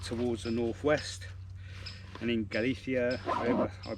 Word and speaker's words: Galicia: Like I say, we went towards the northwest, and in Galicia, I pronounced it right, we did have rain in Galicia, but only for literally a morning.